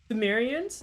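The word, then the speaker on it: Pthumerians: Thumerians? Is it just Thumerians? Been playing Danky Souls 2? A good old Soulsborne Saturday. Good old Soulsborne Saturday. Yeah. You don't say it? Don't say what? Oh, the P.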